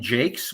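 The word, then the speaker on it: Jaques: a character named Jacquees I pronounce his name Jakes which is the name I grew up uh using for the latrine or the or the place where the toilet was and I think that's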